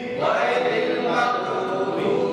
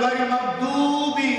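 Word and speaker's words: غير المغضوب: feel feel feel আর গাইরিল গাইরিল মাগদুবি এখন আমাদের সমাজে উচ্চারণ করে গাইল মাগদুবি কালো হয়ে গেল পরিষ্কার কালো হয়ে গেল কোন নামাজ বাতি নামাজ ভঙ্গের পরিষ্কার নামাজ বাতি গাইল মাগদু হইবে না আবার ভালো করে বুঝেন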